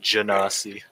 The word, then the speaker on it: Genasi: Apparently, it's pronounced Genasi. Fuck that. It's Ganassi. Exactly.